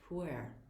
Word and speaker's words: pu'erh: And I kind of emphasize the air part of the word, but in China, where it originated from, it's actually pronounced pu'erh, P-U-E-R-H. It's a very soft and delicate pronunciation.